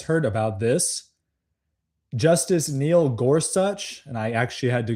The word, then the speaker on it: Gorsuch: if you guys heard about this, Justice Neil Gorsuch, and I actually had to Google how you pronounce his last name, Gorsuch.